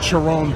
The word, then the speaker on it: Chiron: chyon super sport and I know you probably you know pronounce it Chiron but I don't pronounce it like that I call it the chyron the Chon Super Sport I like that [